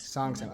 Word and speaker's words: Songtsam: Songs Sam.